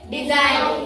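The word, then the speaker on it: design: आता बोला डी एस आय एडि काय स्पेलिंग आहे डिझाईन उच्चार काय करायचा आल लक्षात आता इ नो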